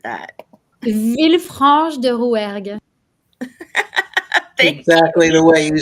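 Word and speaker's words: Villefranche-de-Rouergue: France, Sapania, Hungary, Berlin, Germany, Villefranche de Rouge, Rouergue. Totally butchered that. Villefranche de Rouergue.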